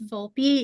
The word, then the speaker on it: Vulpi: up next is Tara vul Tara how do you say your last name V for it's vulpi yeah um sorry about